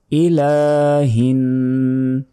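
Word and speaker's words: إِلَٰهِ: আয়াত ইলাহি নাস ইলা এলাতে এক সেকেন্ড টেনে পড়তে হবে কারণ উপরে খাড়া জবর আছে খাড়া জবর খারা এর উল্টা পেশ থাকলে সেখানে এক সেকেন্ড করে টেনে পড়তে হয় ইলাহিন হিন এখানে গুন্না হবে এখানে গুন্না কেন হচ্ছে নুন অথবা মিম অক্ষরের উপরে এরকম তাজদিদ থাকলে গুন্না হয় ইলাহিনস যিনি মানুষের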